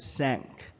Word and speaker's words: cinq: So the correct pronunciation of 5 is sank.